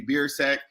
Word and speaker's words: Biersack: i'm doing great and i'm impressed that you nailed the pronunciation on the first try there like that is on the last name very very good because